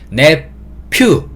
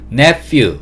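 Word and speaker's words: nephew: 부분을 few라고 발음을 하는데 영어에서 ph는 F 소리를 낸다라고 알고 계시면 돼요 그래서 모든 ph가 붙어 있는 거는 F 소리를 낸다 이렇게 기억하시면 돼요 그래서 내 퓨 이게 아니고 netfu 이렇게 발음을 하고요 정순옥님 반갑습니다 본즈에서도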